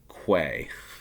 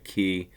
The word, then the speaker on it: quay: I always say, Americans say Quay, or they'll read that as Quay. Key is what it is.